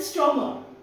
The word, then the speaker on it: Stromuhr: Okay, so how will you pronounce it? You will call it Strummer.